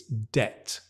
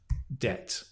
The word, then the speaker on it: debt: because the B sound boom is dropped it's debt right so it's actually pronounced debt d e t debt um and it's uncountable